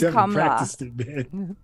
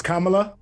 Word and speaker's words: Kamala: Apparently the pronunciation is Kamla. Is Kamala? Kamla. No middle syllable. Oh, because that's an Indian name. Yeah. It's but two syllables.